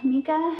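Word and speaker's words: Micah: Hello, Mika. Mika? I know that's how the actor pronounces his name, and that's how the movie pronounces it, but I'm pretty sure that's wrong.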